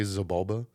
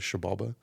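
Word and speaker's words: Xibalba: When I was talking to Brian, I had asked him, like, hey, like, does it bother you when people say Zabalba? Because the proper pronunciation is Shabalba.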